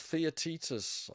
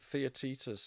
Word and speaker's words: Theaetetus: Yeah, it's Theaetetus. I think I finally pronounced it right. Theaetetus is the Plato dialogue where he mentions the wax tablet.